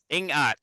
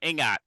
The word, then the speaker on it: Ingat: So they Kenny, might be do they saying have, Tagalog, but there's not a big emphasis on the G.